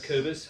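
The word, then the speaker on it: Acerbis: Then you can get a Cherbis one, or a Kerbis, however you want to pronounce that. I've always known it as a Cherbis.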